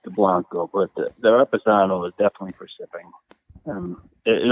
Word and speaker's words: Reposado: How do you pronounce this? I am not Spanish speaking per se, but I believe it's Reposado.